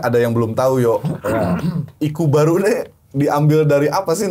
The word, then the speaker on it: Ikkubaru: baru tu apa ya iku kalau dalam bahasa Jawa kan iku baruu baru cara bacanya iku baru Nah ini kita kita